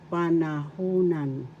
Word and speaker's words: panahunan: Tense means panahunan. Panahunan. First syllable pa.